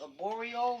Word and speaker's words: arborio: Now, I'm probably going to butcher the name, but I think it's pronounced arborio rice.